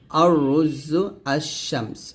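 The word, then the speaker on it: الشمس: এক হরফে শামসিয়া যে আরবি বর্ণমালার পূর্বে আলিফ লাম ব্যবহার করলে লামের উচ্চারণ হয় না তাকে হরফে শামসিয়া বলে যেমন আর শামস এরকম আর হরফে শামসিয়া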